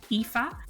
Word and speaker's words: Aoife: I'm sure the link will be in the show notes, but just in case, it's spelled A O I F E. That's EA.